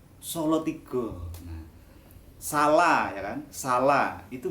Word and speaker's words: Salatiga: ada yang bacanya Ombo misalnya Salatiga tulisannya Salatiga Tapi bacanya apa solotigo Hai salah jangan salah